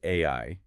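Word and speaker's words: 愛: is nine, the word AI equals 19. The total matonic cycle. If you reverse it to IIA, it equals 91. And if you look at the Japanese kanji for love, pronounced AI, it is traditionally written with exactly 13 strokes.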